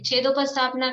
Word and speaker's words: छेदोपस्थापना: रुकिए, छेदोपस्थापना का उच्चारण भी गलत हो रहा है। छेदोपस्थापना। छेदोपस्थापना। हाँ, छेद और उपस्थापना शब्द है, तो छेदोपस्थापना।